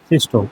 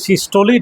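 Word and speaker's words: systole: সিস্টোল আর ডায়াস্টোল এই উচ্চারণটা কোনোদিন আর করবে না, বলবে সিস্টোলি ডায়াস্টোলি। তো প্রোনাউন্সিয়েশন সিস্টোল ডায়াস্টোল ভুল প্রোনাউন্সিয়েশন, যেহেতু বাংলা পড়ে এসেছিস, সিস্টোলি বলবে, ডায়াস্টোলি বলবে, নট সিস্টোল নট ডায়াস্টোল, সিস্টোলি ডায়াস্টোলি, ঠিক আছে।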